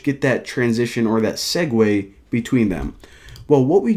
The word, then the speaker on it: segue: Now, a segue, of course, that's how you pronounce that word.